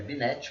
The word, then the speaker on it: Binet: Se escreve Binet, com T mudo.